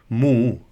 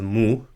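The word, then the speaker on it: ਮੂੰਹ: and pronounce it as mu. So with a slight H sound at the end, not really an obvious H sound.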